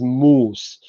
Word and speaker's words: mouse: Okay, with mouse, you have some issues, but this O in the spelling of mouse, so OU, O was actually written there to indicate that U is long. So everybody who was literate in Middle English knew that M-O-U-S-E is pronounced as moose.